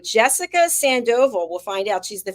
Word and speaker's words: Sandoval: Sandoval.